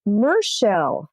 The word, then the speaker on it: Michele: Thank you, but you mispronounced my name. Did I? It's Mershel, as in the ocean, Mershel.